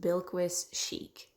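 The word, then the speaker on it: Bilquis Sheikh: author's name I apologize so I looked it up and from what I could find it is pronounced bilquis chic yeah it was really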